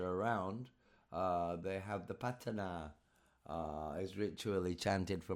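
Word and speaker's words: Paṭṭhāna: It's fascinating how the patana, pronounced patana, is used for protection in Myanmar and other parts of Southeast Asia.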